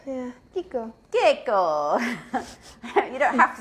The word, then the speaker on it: Kiko: Everybody says Chico, but it is Kiko because it's an Italian. Yeah, Kiko.